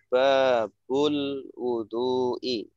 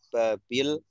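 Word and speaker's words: باب الوضوء: Ini cara bacanya sudah benar tadi Pak Yadi. Babul wudu'i, bab wudu. Ya, kenapa di sini harokatnya dhammah? Kenapa tidak babil, kenapa tidak babal, atau kenapa tidak tanwin babun, ya.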